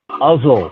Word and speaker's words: Uzzel: Today's speaker is Brother Uzzel, rhymes with puzzle or muzzle.